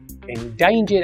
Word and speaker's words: endangered: Most people agree that we have a duty to protect endangered animals from extinction. Let's try it together, and remember, we stress the second syllable. Endangered. Wow!